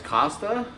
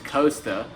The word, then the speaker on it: Costa: and I'm like hey it's not cost it's Costa it bothers me so much everyone's like but it's spelled I'm like have you never been to Costa Rica or seen the sunglasses brand that's ridiculous but so